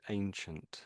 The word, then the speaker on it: ancient: So it's interesting. So it's only one letter in front of the N. If you look in their sort of signs here, they they got two letters, an E and an I, and it's underlined. So let's hear how they say it. Ancient. A. This is definitely a she's saying a ancient.